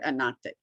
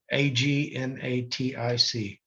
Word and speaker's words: agnatic: But in the laws of these courts, your family is considered agnostic. Okay, yeah, I want to make sure they heard that correctly. Agnatic. Mm-hmm. They, might thought I was mispronouncing.